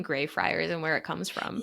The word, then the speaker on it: Greyfriars: Greyfriars? Yeah, like a gray friar.